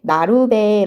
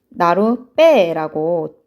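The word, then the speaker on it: 나룻배: 그렇죠 자 근데 여러분 우리는 이거 를 발음할 때 나루 배 라고 발음하지 안내 않죠 그쵸 나로 빼라고 뒤에 배를 댄 소리로 발음을 한단 말이에요 이럴때 나만은 가운데에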